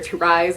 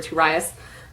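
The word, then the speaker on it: Tieryas: by Peter I think you can pronounce his name either to rise or to rious it's like an alternate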